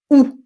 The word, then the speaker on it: août: Donc, l'été inclut le mois de juin, juillet et août. Some people will pronounce août. I do not pronounce août.